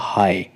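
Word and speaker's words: high: silent है खाली हम एच आई को ही प्रोनाउंस करेंगे और ये बन जाएगा हाई हाई का अर्थ होता है ऊंचा ऐसे आपका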